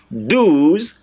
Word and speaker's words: douze: But a Frenchman will tell you, and that is how it is, universally, all over the world, douze is D-O-U-Z-E.